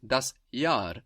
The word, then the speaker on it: das Jahr: For example, the year is das Jahr, that's spelled J-A-H-R, and that H just stretches out that vowel, das Jahr.